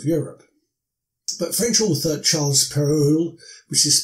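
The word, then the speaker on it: Perrault: the towns of Europe but French author Charles Peru which is spelled p r r a u l t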